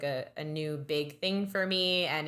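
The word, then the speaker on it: Aine: goddess um I think it's like pronounced Ane it's like a i n e and it's a little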